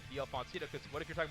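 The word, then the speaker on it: d'Alfonsino: Pronunciation is DL Foncino for all you people at home. I know some of y'all say it a different way. That's not how you say it. DL Foncino.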